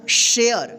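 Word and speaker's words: share: क्या होगा वेयर वेर ठीक है ए का उच्चारण हुआ है ठीक यहां प देखिए एस एच ए आर ई क्या होगा शेयर क्या होगा शेयर डी ए आर ई क्या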